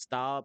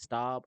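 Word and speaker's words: Staub: Uh my boy, I think his last name is Stab. S T A U B. I think that's how you pronounce it. Stab.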